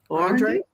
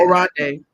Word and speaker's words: Oronde: I'm going to try to pronounce it. Andre? That's Andre? Mm-hmm. Lord, I didn't rename the man. Oh, okay. Oronde. I'm sorry. Oronde.